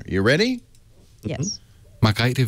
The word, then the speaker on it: Margrethe: So I was wrong about the I. No, actually, it was Margrethe. Oh, forget it. We're going to call her Marguerite Vestager.